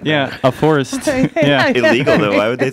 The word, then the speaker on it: Phourist: or I don't know very strange P pH making a f sound can't be legal people